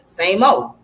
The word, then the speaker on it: SAMO: as same old and pronounced as same old it's primarily associated with